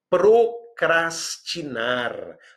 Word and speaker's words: procrastinar: Procrastinar. Procrastinar, muito cuidado com a pronúncia, significa adiar, diferir, prorrogar, né?